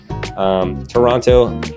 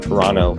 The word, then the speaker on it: Toronto: photographer based in Canada, Toronto. Apparently I'm saying that wrong. I think it's Toronto. Toronto is how they say it.